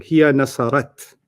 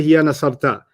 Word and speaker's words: هي نصرت: هي You got the ta right. You're pronouncing it wrong. Hiya nasarat. Oh, هي نصرت. Okay, let's start that again. Okay. And let's see if you don't say hiya nasarta. Hiya nasarat is what I want to hear.